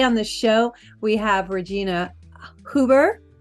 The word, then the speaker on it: Regina Huber: And today on the show, we have Regina Huber. Is that right? Did I say it right? That is right. That's perfect.